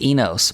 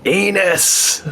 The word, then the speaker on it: Enos: late night days and take much joy and saying mike anus and pronounce it like he's got penis as his surname uh almost some guy